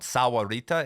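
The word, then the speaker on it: Sahuarita: I used to live in a town called Sawarita.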